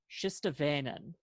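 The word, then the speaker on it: Shistavanen: It's Shistavainen is how it's Shistavainen.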